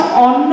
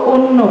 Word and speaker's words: অন্য: ওটা ঠিক করব মেনলি, সেটা হচ্ছে অন্ন মা নয়, অন্য মা। অন্ন কথাটার অর্থ খাবার। যখন আমরা অন্য মানে আরেকজন এই অর্থে বলবো, তখন আমরা অন্ন বলবো না, কথাটা উচ্চারণটা হবে অন্য।